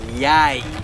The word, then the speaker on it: jeg: So when you're saying, first start learning Norwegian, you will drop by it like jeg, right? I know, it's written with an E, not pronounced that way.